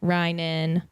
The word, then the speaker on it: Reynen: I always say it's like the bread, like rye bread, Reynen. I think if the Y and the E were in opposite spots, it would make more sense.